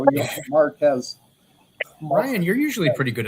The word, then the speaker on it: Marquez: The QU is a K sound, not a Q. Marquez. Marquez.